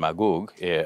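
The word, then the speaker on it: מגוג: but in the hebrew the the gene is pronounced with is it's a hard g so uh goog and magoog whereas in in arabic it's the soft g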